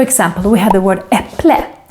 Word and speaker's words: äpple: For example, we have the word äpple, apple, is written with an ä, but we make it an E sound because it's followed by two consonants.